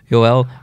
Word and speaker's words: Joel: said his last name army yeah so was Yoel Armia but his last names actually pronounced out of Mia out of Mia so